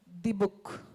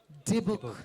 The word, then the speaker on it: Dybbuk: It's D-book. Is that correct? Right, D-book. Okay. Can we all say it together? Okay. 3, 2, 1. Dibuk.